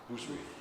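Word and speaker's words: Bhusri: Anil Bujri. Did I say it right? Bujri.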